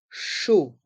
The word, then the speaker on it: chaud: Les consonnes C et H se prononcent CH et les voyelles A et U se prononcent O, comme la lettre O. Chaud.